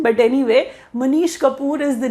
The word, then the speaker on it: Manish Kapoor: name is mish Kapoor he can be pronounced as Manish kapor but whatever is convenient to you and our exam does not have anything to do with pronunciation but anyway Manish Kapoor is the name of